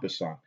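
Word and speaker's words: en passant: it's a special move its called a Poisson it is spelled e n P is s a in T is a it's French for in passing okay so let me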